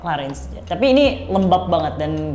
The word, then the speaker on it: Clarins: Bacanya Clarong, tapi ya lupa Clarins.